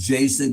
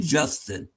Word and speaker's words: Jason: the hill that is Jason Canopsis Alvarez, you pronounced his first name wrong. Did I? You said Justin.